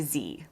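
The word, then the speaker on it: zee: In the US, it's Z, rhyming with tree.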